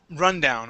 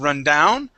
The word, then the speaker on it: rundown: Um, next word is rundown. Okay, this the stress is at the very beginning of the word. Instead of run down, it is rundown.